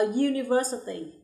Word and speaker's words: university: For example, a uniform, a university. Đối với hai ví dụ đầu tiên, chúng ta thấy âm u khi được phát âm sẽ là you.